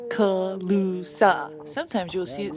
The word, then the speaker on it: Calusa: that oh let me tell you colusa is pronounced colusa sometimes you'll see it spelled colusa instead the